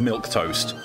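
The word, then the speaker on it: milquetoast: Milk toast. It's just... It's an actual word, but it's spelled M-I-L-Q-U-E, toast. It is pronounced milk toast, but you don't spell it like milk toast.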